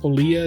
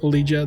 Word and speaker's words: Olegia: the quick correction here it's pronounced olia not lijja that's my bad but overall i have